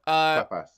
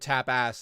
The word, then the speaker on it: tapas: Tapas. No, you're right. Tapas. It's tapas. Tapas. Okay. I thought it was because I was saying it weirdly. No. I just heard tap ass, and I thought.